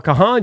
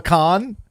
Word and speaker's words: Kahan: I think I just saw your boy Noah Kahan just had one too. Or Noah Khan. Noah Khan. It's spelled Kahan. It's spelled Kahan. People call him Noah Khan.